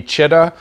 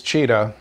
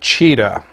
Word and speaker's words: Chita: Russian trust me it's cheetah and uh so it's it's pronounced like uh like the big cat or uh the New England Patriots so cheetah um and with that